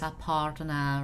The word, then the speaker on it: Aparna: R is pronounced as R itself is Aparna, right?